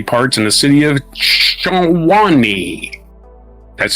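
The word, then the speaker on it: Tshwane: of human body parts in the city of Shani, that's spelled T S H W A N E.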